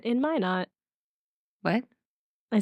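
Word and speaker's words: Minot: something is pronounced because it's not minnow okay I'm ready it's still recording so go on whenever you're ready okay today we journey into my not North Dakota to explore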